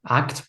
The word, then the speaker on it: ACT: Y tenemos una hora para centrarnos en la terapia de aceptación y compromiso, ACT, pronunciada como una sola palabra en inglés, asistida con psicodélicos.